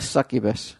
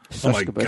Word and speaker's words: succubus: She's a kind of like a succubus. Like a ghoul. Succubus. Oh my god! I was going to say that right. You said it right the first time, and then corrected yourself to the wrong way.